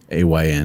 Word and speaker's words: Samhain: Yeah, it was like Sawayn. And they don't pronounce all of their vowels and consonants either. So it's Soris. Yeah. Sorsha. It's very different from how you spell it to how you pronounce it.